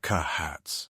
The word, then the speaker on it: Kahat: Hadriana Kahats. Yeah, the original settlers weren't very creative in their naming conventions. It's spelled differently and pronounced in 2 syllables, Kahat.